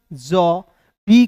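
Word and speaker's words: job: जैसे यहां पे देखिए ना, जे का जौ, बी का ब, ओ है तो इसका उच्चारण औ के रूप में जॉब।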